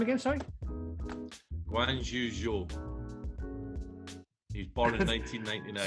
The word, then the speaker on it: Guanyu Zhou: Wan Yu Zhou. Okay. So the way you pronounce it is the other way around.